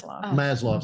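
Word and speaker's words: Maslow: l w I believe oh it's I think it's maslo I think I pronounced it wrong at first but it's this trying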